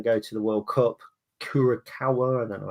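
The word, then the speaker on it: Curaçao: Kurakawa. I don't know how it's pronounced. Kurissau.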